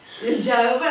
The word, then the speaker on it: Jehovah: It's different pronunciations for the same name.